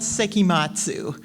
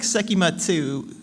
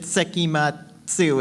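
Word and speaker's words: 聖飢魔II: with a band called seim Matsu that's how you pronounce it it's it looks like seatu but you pronounce it seim matu it's a it's a pun yeah basically the the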